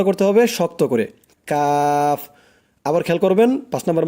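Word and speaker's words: كاف: তার বরাবর উপরে তালুর সঙ্গে লাগাইয়া উচ্চারিত হয় কাফ কাফ শক্ত করে কাফ উচ্চারণটা করতে হবে শক্ত করে কাফ আবার খেয়াল করবেন পাঁচ নাম্বার মাখরাজটা জিহ্বার গোড়া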